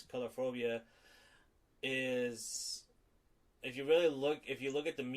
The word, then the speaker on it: Coulrophobia: Yeah, I was looking into that, the actual phobia, and I hope I'm not butchering it, but I think it's pronounced Coulrophobia. Coulrophobia.